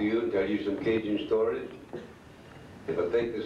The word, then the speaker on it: Cajun: The word Cajun is spelled C-A-J-U-N, pronounced Cajun in Mexico.